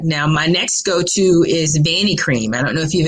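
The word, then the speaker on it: Vanicream: my next go-to is vani cream i don't know if you've ever heard of that um but it's spelled with a v like victor and it's called banny cream i love love love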